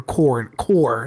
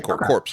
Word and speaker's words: corps: Yeah, core. Sorry. Corp. It is core. So, okay, it's essentially corpse units.